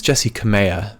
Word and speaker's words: Jessi Kamea: and jesse kamiya versus i think it's jessie kamea that's how they were pronouncing it jesse kamehameha okay um